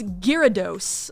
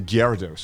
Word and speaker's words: Gyarados: Gyarados. Because in Japanese it's Gyarados. Yeah, I know, So but I'm like, I'll just take it from there.